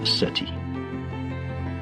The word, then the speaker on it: SETI: This quest is called the Search for Extraterrestrial Intelligence, SETI, pronounced SETI.